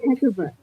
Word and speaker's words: Hecava: My name, the pronunciation is Hecava.